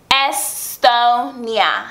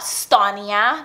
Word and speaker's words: Estonia: And it's Estonia, not Stonia, not Stonia. Honestly, I kind of like give in when people start saying Stonia. I don't even try to correct it anymore, but the real pronunciation of like my nickname is Estonia. Letter S, Tonia.